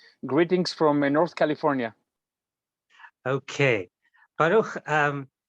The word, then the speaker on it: Baruch: So the way you pronounce my name is Baruch. It's similar to Barak, but it's actually with the ch at the end. So it's Baruch.